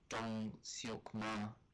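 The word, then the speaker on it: Ma Dong-seok: It says that on IMDb it looks like her, Kamal Nanjiani, and Dong Seok Ma, that's the official pronunciation, are the only ones that are confirmed.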